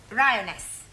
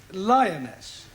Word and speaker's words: lioness: feminine of the following lion roness lioness roness no l l r r you're not saying it right very sorry I know